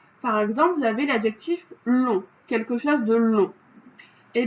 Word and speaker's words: long: Mais on sait que l'adjectif long au féminin, c'est longue. Et là, on entend longue. Et on entend qu'il y a un G à la fin. Donc, on sait que l'adjectif au masculin, il va se finir par un G que l'on n'entend pas, mais qui existe.